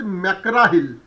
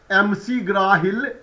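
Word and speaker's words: McGraw-Hill: it's a publisher is Makara Hill okay so from that time from that day I have changed my mind and now I do not pronounce this publisher as MC grahil rather I pronounce it as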